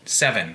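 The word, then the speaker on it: VII: collective based in ottawa called seven that's v-i-i spelled like the romans would as well as a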